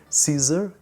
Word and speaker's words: CZUR: awesome this is the caesar this is the way that it's pronunciating portuguese it is a little bit different but caesar our pro